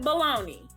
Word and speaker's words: bologna: love you it was bologna pronounce it baloney yeah Americans do okay